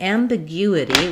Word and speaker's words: ambiguity: So in ambiguity, we have stress on the gu syllable, and this is an example where letter U has the y and the u sound, like in music or few.